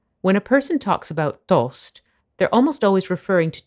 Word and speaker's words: toast: That's just popped out of the toaster. Tostapane. Covered in butter. Burro. Jam. Marmellata. Or peanut butter. Burro di arachidi. Toast isn't pronounced toast in Italian, but toast, with a long O sound.